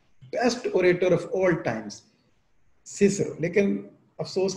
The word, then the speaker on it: Cicero: किया है वो है सिसरो, CICERO, सिसरो, और sometime it is pronounce as चेचेरो। चेचेरो भी कुछ लोग कहते हैं, वो कहते हैं सी की आवाज, चे की आवाज, जो लैटिन है वो इस तरह से प्रोनाउंस करेगा। हाउएवर प्रोनाउंसिएशन के हवाले से जो डोमिनेंट मुझे नजरिया मिला है वो ये है कि ये सिसरो है, ज्यादा स्कॉलर को मैंने सिसरो कहते सुना है। सो सिसरो इज the best known for his compelling